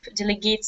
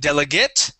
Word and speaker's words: delegate: word delegate instead of delegate okay the stress is at the beginning of the word delegate delegate son okay delegate yeah yeah the ate at the end is an it sound instead of delegate okay